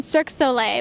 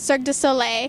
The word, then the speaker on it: Cirque du Soleil: was saying it wrong i was saying cirque soleil but cirque du soleil do you get people